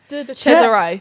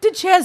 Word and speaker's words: DeCesare: DeCesare. DeCesare.